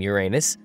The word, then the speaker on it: Uranus: Yeah, I pronounce the planet's name Uranus, which is likely closer to the initial intonation of the name of the god after it was designated.